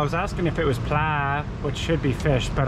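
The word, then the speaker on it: ปลา: Yeah, well, I was asking if it was pla, which should be fish, but I don't say it properly. I think it's with a downwards pla.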